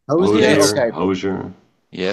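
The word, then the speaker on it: Hozier: probably old school, but how do you pronounce it? Hoser? Have y'all heard of that? Hosier. Yeah. Hosier. Yeah, it's Hosier.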